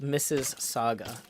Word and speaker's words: Mississauga: It's pronounced Mrs. Saga.